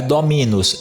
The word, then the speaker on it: dominus: É dominus, dominus ou dominus? Viu? Não é dominus, não é dominus, é dominus. Isso significa aqui que a sílaba mi é uma sílaba breve.